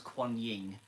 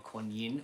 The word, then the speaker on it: Quan Yin: my blocked here um the card was quanying uh or gu Yin or gu Yin depending on where you come from and how you spell it um she is or